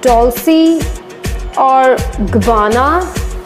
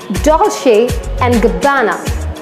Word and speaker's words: Dolce & Gabbana: is Dolce and Gabbana many people call it Dulce or vana no it is not that it is Dolce & Gabbana the main focus is on but come on